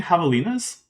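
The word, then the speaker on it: javelinas: But havalas, which is spelled with a J, are a kind of they're they're a kind of uh peckery which you can find around here.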